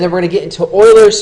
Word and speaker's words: Euler: we're gonna get into Euler's formula yes that is pronounced boilers and then we'll talk